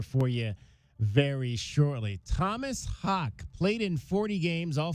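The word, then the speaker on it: Haugh: Let's hear from Tom Hawk Hawk. H A U G H pronounced Hawk. Let's hear from Tom Hawk on moving to the small forward position.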